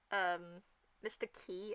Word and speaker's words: Qi: Because I finally got into Mr. Key, apparently, but it's spelled QI.